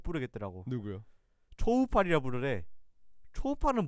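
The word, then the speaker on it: Coufal: 초팔. 그냥 전 쿠팔이라 합니다. 근데 그 그냥 초팔이 원래 표기법이 맞아요? 정확히는 제가 발음을 열심히 들어봤거든요. 네. 현지 발음을 초우팔과 소우팔이 사이에 있어요. 쇼팔 뭐 이렇게.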